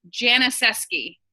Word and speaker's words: Janisewski: So my name is Janisewski. Let me say my last name again because people never, ever, ever know it. Janisewski. The W is silent.